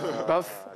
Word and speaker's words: Bath: Ça fait un peu comme Bath. Oui, la salle de bain. Baf. Baf. Salle de bain ou baf dans la prononciation.